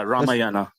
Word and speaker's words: Ramayana: Is that how you pronounce that? Yeah, Ramayana.